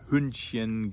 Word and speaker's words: Hündchen: But anything that ends with Chen, like Kätzchen, Hündchen, Gläschen, Mädchen, is pronounced with a soft CH, the sh, chen.